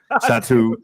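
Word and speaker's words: Satou: Phantom is Sato. That's how you say it. Satu.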